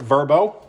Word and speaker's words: VRBO: So VRBO, or as they pronounce it, Verbo, which I thought was a little weird, but that's okay.